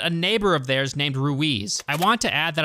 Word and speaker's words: Ruiz: my dumb American tongue the character's name r UI Z is pronounced rui throughout the movie I looked online and I guess there's like a million pronunciations for this particular name throughout the world from Spain it is said as ruith but throughout my initial recording I pronounced it as Ruiz I'm sure there's other